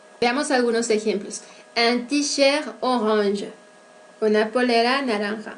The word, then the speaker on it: orange: Orange. Avec la voyelle nasale aussi, un. Et avec les sons consonantiques, G. Esta forma de color es tan invariable.